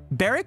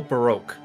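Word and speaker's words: Barok van Zieks: Here, we have the British prosecutor, Barrack or Barak? They usually go Baroque. Baroque. When they say it in Japanese, yeah. Baroque Van Zieks. I've said his name wrong the entire time.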